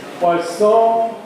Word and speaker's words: Poisson: And the name Poisson comes up.